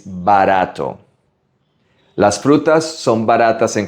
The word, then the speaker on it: barato: Again, it's a soft R. Not barato, it's barato.